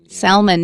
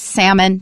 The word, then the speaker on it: salmon: And which reminds me, when you're talking about salmon, don't pronounce the L. It's not salmon. No, no, no. It's salmon.